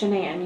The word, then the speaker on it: Shenan: It's Shenan. You pronounce it like Shenanigans.